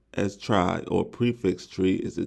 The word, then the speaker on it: trie: what the question says it says a triy pronounced as try or prefix tree is a tree data structure